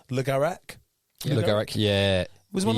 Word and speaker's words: Le Garrec: Le Garrec.